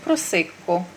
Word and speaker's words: Просекко: Бо я бачу, дехто ві в Україні не знає, як вимовляти, як читається. Просикко.